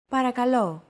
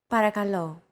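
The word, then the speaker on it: παρακαλώ: was pretty spot on the p r k and l sounds are practically identical to English don't forget that words get accentuated in Greek so make sure to stress that final syllable with the accent mark repeat after Chrissy parakalo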